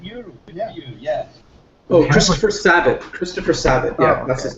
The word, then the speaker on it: Sabat: Oh, Christopher Sabat.